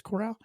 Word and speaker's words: Corral: Matt Corral, I believe is how you pronounce the last name, not Carroll. I think it's Corral.